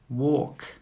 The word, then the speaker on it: walk: Walk, walk. Yoke, yoke. All of these words have a silent L.